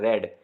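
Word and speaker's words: read: अब ये देखें, इसको मैंने रेड पढ़ा है, ये पास्ट फॉर्म है रेड, रीड भी होता है, ये फर्स्ट फॉर्म भी स्पेलिंग यही होती हैं, पढ़ा रीड जाता है।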